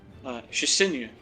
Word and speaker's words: Shisinu: She has delivered a group of 7-foot-tall copper skeletons to help protect both the individual within Baron that calls herself the Sage, Shisinu, she says it is pronounced, and of course others within Baron, such as the King and his mother.